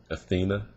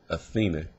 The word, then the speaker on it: Athena: left Athena which is these are the different uh pronunciations Athena Athena and athenia all right now I'm